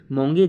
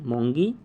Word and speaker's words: मोंगी: को दिया गया पहला नाम बोल रहा हूं स्पेलिंग के साथ मोंगी जी बव अर्थात एम ओ यू एन जी आई मोंगी space dot बेंडी बी एडल ई एनडी आई